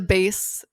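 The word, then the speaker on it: BÉIS: The base, is that how you say it? Yeah. BEIS luggage.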